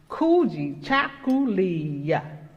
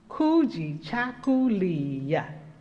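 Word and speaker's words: Kujichagulia: This is pronounced Kuji Chakuliya. Kuji Chakuliya. Kuji Chakuliya.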